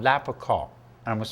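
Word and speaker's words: lapachol: poy alal has an active ingredient that's called lapr and I'm going to spell that for you it's l a p a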